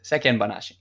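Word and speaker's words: 世間話: This is a tough pronunciation issue in Japanese for a lot of foreigners, but there's no chichaitsu. There's no glottal stop there. It's sekken banashi.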